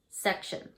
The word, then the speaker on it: section: T-I-O-N says shun, shun. So when you read this, it's shun, section.